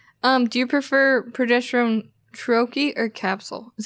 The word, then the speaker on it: troche: estrogen sorry gotcha um do you prefer progesterone troche or capsule is how you say troche there's some really good topicals out there i